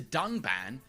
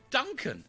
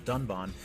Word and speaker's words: Dunban: disagree with and then calls the character dunban Duncan this time however they did edit out the mistake but even in the re-edit he still pronounces the name wrong with the horrendous drop